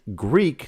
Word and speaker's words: Greak: August 17th, Greek, that's spelled Greak, Memories of Azure, I